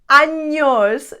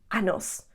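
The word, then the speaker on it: años: do you say it anos do not say annos because anos means years so when somebody asks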